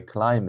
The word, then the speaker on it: climb: the next day I climb it I climb it not climb but B is silent guys here B is silent okay I climbed the